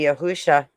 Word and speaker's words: Yahusha: No, I'm not even It' be Yahusha if you're based on Paleo Hebrew if you're actually pronouncing it right. It's Yahusha, which actually, I mean, when it works out, it's almost closer to uh Joshua.